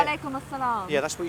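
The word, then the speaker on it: wa alaykum as-salam: walaikum assalam.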